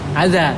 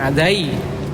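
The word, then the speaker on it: أذى: Kasrah secara hukum tapi bacanya adza, tetap dibaca adza, bukan adai. Orang Arab nggak bisa bilang ada a terus i, nggak bisa.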